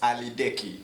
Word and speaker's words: Aliddeki: But the right pronunciation is Aliddeki. Oh yeah. But saying Aliddeki, tuliba Mfrika. So the right pronunciation is Aliddeki.